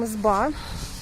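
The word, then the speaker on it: изба: First of all, we call them izba with last syllable stressed.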